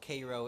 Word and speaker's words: Cairo: at the bottom called Cairo Illinois that's how they say it Cairo and the song we don't say Cairo we kind of say Cairo that's how it's spelled but anyway here's a